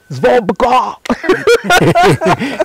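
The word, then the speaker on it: Zvobgo: He started by teaching us how to pronounce his name. The whole hall. Okay. Zvobga.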